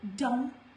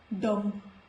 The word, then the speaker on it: dumb: After M in the words like dumb, it is not pronounced as dumb. It is dumb.